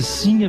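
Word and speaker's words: Sinha: sim a vitória e a pronúncia correta nesse caso é sim a vitória né com o assento na primeira sílaba isto porque Inclusive a grafia também né sem o acento portanto agudo no no a Porque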